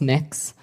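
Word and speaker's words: Mx.: It's pronounced mix. Mix?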